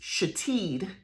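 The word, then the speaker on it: Shithead: the name was spelled s-h-i-t-h-e-a-d but it was pronounced chateed and that one kind of like grabs me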